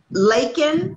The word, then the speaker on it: Laken: in the session but it's lincoln like bacon lincoln laken like bacon laken okay i've got it